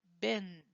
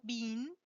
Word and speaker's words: bin: Then you have the word bin. Be careful. Bin, no bean, bin.